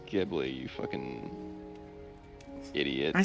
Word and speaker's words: Ghibli: Studio Ghibli? You say Ghibli? It's Ghibli, you fucking idiot.